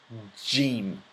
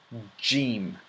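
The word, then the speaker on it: جيم: your mouth like this Jim Jim and similar to the following letters or I'm sorry so the following words in the English language so it's pronounced like this job Jim James gesture all these words started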